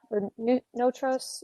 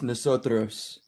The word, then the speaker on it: Nosotros: name is peter stancatto it's nosotros it's a spanish word it means we it indicates the importance